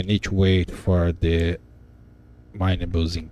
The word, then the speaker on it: minables: And then if minables, not minerables, minables, I guess that's how you pronounce this.